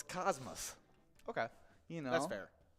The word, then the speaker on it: Cosmos: the space term, but locals refer to the tiny town as with an us sound at the end. Interesting. Yeah. I would not have thought of that. So it's Cosmos.